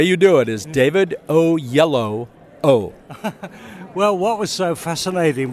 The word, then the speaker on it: Oyelowo: So the way you do it is David Oyelowo.